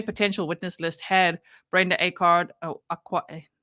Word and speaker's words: Acard: I was still looking forward to the defense because their potential witness list had Brenda Acard. They wanted to say it almost like awkward. It spelled like A card.